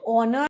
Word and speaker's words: honor: Like if you look at honor and hour, it feels as if it starts with an o but it actually starts with an h. Honor. Hour. And also kindly note because of the sound it makes, you will always put an an before it. The article an an hour. An honorable man.